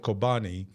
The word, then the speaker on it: Kobani: period there's a town called kobani it rhymes with chobani the yogurt and actually one of